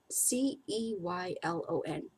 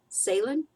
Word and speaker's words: Ceylon: a steamship in Ceylon I never know how to pronounce this c-e-y-l-o-n Salen Ceylon in steps off the